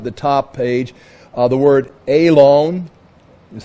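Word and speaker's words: אֵלוֹן: The word Elon is how it's pronounced, means oak.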